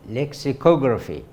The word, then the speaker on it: lexicography: which is entitled lexicography the stress is on the third syllable lexicography lexicography is the study